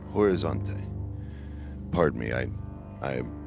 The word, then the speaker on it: Horizonte: I spent most of my time in the state of Minas Jerus in the capital city of Bello Horante. Horizonte. Pardon me. I I'm not privy to Brazilian pronunciation.